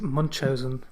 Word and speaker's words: Munchausen: Uh I think the correct pronunciation is Munchausen. Munchausen by proxy syndrome.